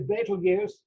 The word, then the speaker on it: Betelgeuse: There's an asterisk on Betelgeuse there because Betelgeuse, that isn't the way you spell it, but that's how we call it. It's really Betelgeuse, and it's an Arabic term and translates as the armpit of the giant.